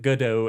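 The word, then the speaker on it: Godot: Now, it you can pronounce it goodo as well. I understand. Uh I I've always pronounced it go dot so I will continue but I do understand.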